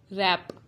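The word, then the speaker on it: wrap: कुछ वर्ड्स में W silent होता है, वो वर्ड्स हैं हु, हुज, होल, हुम, हुएवर, आंसर एंड टू.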